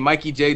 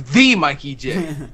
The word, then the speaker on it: TheeMikeyJ: It's like, oh, you're saying when somebody I jokingly say it, but somebody said pronounces my name Mikey J. No, it's TheeMikeyJ.